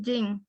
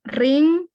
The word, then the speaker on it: rin: Entonces aquí dice ring nupi, pero se pronuncia jing en la variante dialectal en donde me encuentro yo. Hay otras personas que dicen ring, ran, jing o ring, ¿verdad?